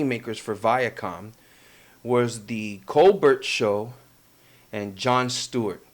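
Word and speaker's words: Colbert: for Viacom was the cobbert show and John Stewart the t is silent coar and either way well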